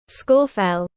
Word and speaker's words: Scafell: Google how to pronounce Scorfell and you will find that Google gives you the correct pronunciation. The one I'm saying is correct. Scorefell.